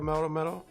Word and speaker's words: Melmetal: Probably want to play it in Lucario Melmetal. Yeah, that's how you say it.